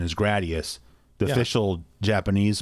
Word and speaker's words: Gradius: like everybody I knew said gradius same thing like radius just like with Ninja